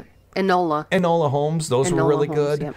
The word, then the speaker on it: Enola Holmes: I've really liked her signing up with Netflix, the Elena Holmes, or how do you pronounce it? Enola Holmes.